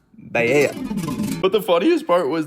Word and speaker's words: paella: And then the waiter takes my order and I'm just like, oh, I'll have the paella. And my friend goes, no, it's pronounced paella.